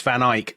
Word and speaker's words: Van Eyck: But you criticized or you there was a hint there that you don't pronounce Van Ike like we do.